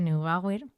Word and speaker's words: Neubauer: era neubauer que no sé si lo he pronunciado bien pero es neubauer He decidido que para aligerar ese kilo porque